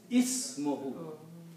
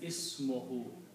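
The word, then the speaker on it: اسمه: Then you have to make sure that you pronounce it ismuhu, just like that. No, there's no asm there. The word is ism.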